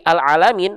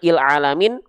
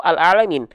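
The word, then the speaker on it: العالمين: sini dari Hamzah wasalnya bacanya gimana Il alamin Ul alamin atau al alamin pasti a Kenapa karena huruf berikutnya adalah huruf lam tuh ya alalamin gitu coba aja terus nih misalnya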